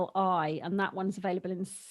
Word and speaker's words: Naturli: We flipped between Vitalite's dairy-free spread and I hope I'm pronouncing this right, Naturally. Yeah, I struggle to pronounce that as well, but yeah, it's Naturli, and that one's available in Sainsbury's and Waitrose.